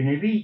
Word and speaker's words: Neville: ¿Sabéis que se escribe Neville? que se pronuncia más o menos Nevil, Orman Neville.